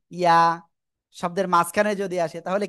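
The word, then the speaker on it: ياء: ইয়া। কোন জায়গা থেকে উচ্চারণ হবে? একেবার জিহ্বার মধ্যখান উপরে তালুর সাথে লাগাবেন, লাগিয়ে সিম্পল এক আলিফ টানিয়ে উচ্চারণ করবেন।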